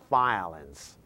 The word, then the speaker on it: violence: number six violence violence make sure you pronounce the V sound put the out your upper teeth on your lower lip and present violence improve improve number eight